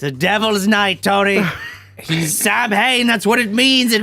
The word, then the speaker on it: Samhain: the school, broke into the school to write Sam Hain. I know it's actually pronounced Samhain.